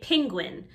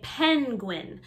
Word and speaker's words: penguin: some people say penguin so we change the e to an i so you can say this word both ways you can say penguin or penguin like pen and pin penguin penguin both are okay dolphin dolphin the